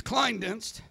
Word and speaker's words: Klinedinst: It's Klinedinst. And even the ones that can say it can't spell it.